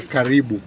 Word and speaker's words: karibu: When you say welcome here, you say karibu.